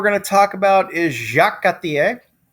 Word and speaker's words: Jacques Cartier: The next guy we're going to talk about is Jacques Cartier, because, pronouncing every letter in French is for chumps.